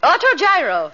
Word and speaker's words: autogyro: How do you pronounce it, Millicent? Autogyro.